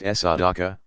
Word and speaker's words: sadaqah: Pronounced sadaqah, righteousness, uprightness.